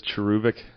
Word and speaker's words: cherubic: Apparently, it is cherubic.